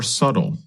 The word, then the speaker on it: subtle: other differences are more subtle that's spelled s u b t l e but we do not pronounce the letter B in the word subtle describes something that is